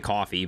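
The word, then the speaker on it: Ko-fi: I think it's actually coffee, but I say Kofi.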